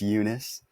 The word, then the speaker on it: Yunes: my name is Eunice um people kind of mispronounce my last name a lot so it's it's yunice not Yun or anything like that